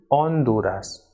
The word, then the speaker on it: Honduras: o m is goma o is always silent in spanish words so even though we will write this alphabet but while pronouncing it will remain silent for example it is not honduras but it is honduras and not ahora but